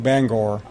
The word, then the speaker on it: Bangor: you are in bang Bangor come on big women Denver's Tata means to me a long time learned I pronounce that I didn't realize it was bang or I'm in Denver scud